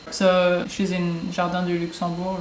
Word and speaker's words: Luxembourg: also when you say luxembourg you don't get that g sound at the end that's something i didn't